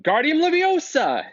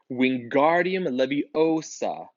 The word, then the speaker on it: Wingardium Leviosa: much more luck when Guardian larosa he shouted waving his long arms like a windmill you're saying it wrong Harry Hermione snap its Wingardium Leviosa makes the GAR nice and long you do it then